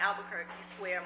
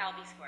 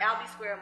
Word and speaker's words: Albee Square: We got rid of the Fulton Mall, the Albuquerque Square Mall. Am I saying it right? Albee Square. Albee Square Mall.